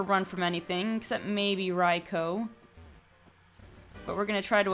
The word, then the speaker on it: Raikou: interesting for early game at least up there's raikou raikou excuse me on my main channel i did